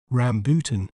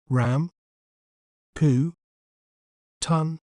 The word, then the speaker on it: rambutan: do we say its name correctly we may pronounce it as rambutan rambutan Ram po ton rambutan an interesting fact about rambutan is that its